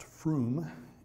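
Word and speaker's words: Frome: It's pronounced Froom, England, where they do a lot of our signature stuff, and I'll get into that in a minute.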